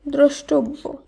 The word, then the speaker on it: দ্রষ্টব্য: দয়রফলা মূর্ধন্য শয়টয় বয়জফলা, এর শুদ্ধ উচ্চারণ হবে দ্রষ্টব্য, দ্রষ্টব্য।